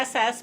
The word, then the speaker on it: Nes: Yeah, it sounds N-E-S. funny now. Ness means miracle in Hebrew. Yeah. N-E-S, just one. Oh, S. just Her name's Nes.